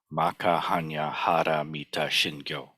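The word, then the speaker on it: 摩訶般若波羅蜜多心経: the Heart Sutra, and they pronounce the title Maka Hanya Hara Mita Shingyo, somewhat different.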